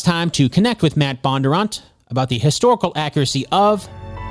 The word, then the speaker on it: Bondurant: different ways bondurant bondurant bondurant how do you pronounce your last name you say bondurant but yeah but but a lot of people